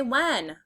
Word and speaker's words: when: Say when. The WH makes a W sound. The H is kind of silent. W, when.